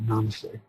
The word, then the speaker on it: namaste: They go namaste, namaste. The accents on the first syllable, namaste.